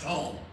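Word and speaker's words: תֹּם: And this is spelled Tom, T-O-M, but it's pronounced Tome, T-O-M-E.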